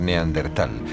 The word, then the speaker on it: neandertal: largo de los años el nombre se escribió y pronunció de diversas maneras en razón de su origen alemán si bien hoy en día se tiende a aceptar neandertal prescindiendo de la H que seguía a la t en la actualidad se han